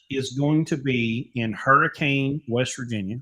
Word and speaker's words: Hurricane: going to be in Hurricane West Virginia we call it hurricane it's spelled h-e-r-r-k-e-n it's just like the storm Hurricane West Virginia August